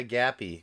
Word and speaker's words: Gappy: really I was thrilled did you say his name's Gabby yeah cool Jeffy Jeffy so it's like because this has a gap too oh yeah gappy cool man that's awesome so